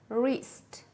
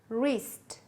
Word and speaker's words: wrist: Knee, knee, knife, knife, knit, knit, no, no, wrist, wrist, right, right, wrong, wrong, writer, writer. What do you notice? Yes, you don't pronounce letters K and W.